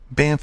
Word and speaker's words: Banff: Banff is a lovely little town. There is no truth to the rumor that you try and pronounce both F's in the word Banff, as my family sometimes does.